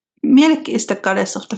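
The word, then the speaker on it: Mielikki: Sure and the pronunciations. Thank you. Milik is the goddess of the forest and she's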